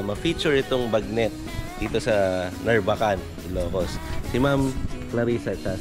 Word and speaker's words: Narvacan: Papunta o pababa tayo ng Narbacan. Yun. Yung pala yung tamang bigkas dun. Narbacan. Narbacan. Hindi Narbacan.